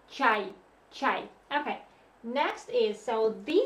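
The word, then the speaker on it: чай: So this letter is this one, ch. This is R, and this is E, y. So pronounce it all together like chai, chai.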